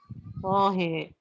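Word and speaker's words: طه: Gimana bacanya? Tohe.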